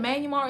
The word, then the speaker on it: Myanmar: That's how you say it, Myanmar.